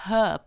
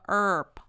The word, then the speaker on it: herb: แปล ว่า สมุนไพร เนี่ย อังกฤษ British เขา จะ อ่าน ว่า เา จะ อ่าน ว่า Herb แบบ นี้ ใช่ มย อ่า แต่ อเมริกัน เนี่ย ตัว H ไม่ ออก เสียง อ่าน ว่า Herb Herb หรือ ชั่วโมง เรา อ่าน